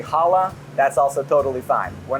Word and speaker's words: challah: So our in-house, it's pronounced challah bread. You can say it with me, right? You get challah bread from the back of the throat.